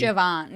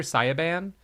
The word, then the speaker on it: Siobhan: so she was like trying to say it's Siobhan. Yeah. Yeah. Yeah. Yeah. But she was like, "Oh yeah, my character Siaban."